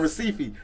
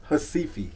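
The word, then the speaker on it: Recife: it right yes yes I'm saying receipt they're like no it's hasifi it's sifi wonderful like the native speakers yeah okay what brought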